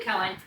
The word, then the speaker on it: Koehn: I have Koehn, did I say it right?